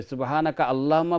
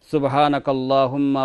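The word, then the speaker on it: سُبْحَانَكَ اللَّهُمَّ: তাজবিদের rule হিসাবে এখানে আল্লাহুম্মার হামজা যেটা, এটা কিন্তু পড়তে হয় না, কাফ লামের সঙ্গে জয়েন্ট হয়ে সুবহানাকাল্লাহুম্মা রব্বানা ওয়া বিহামদিকা আল্লাহুম্মা ফিল্লি পড়লে তাজউদের রুলকে ফলো করা হলো।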